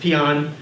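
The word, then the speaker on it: paean: leader we paan on North Korea which is pronounced peon but if you look up in dictionary it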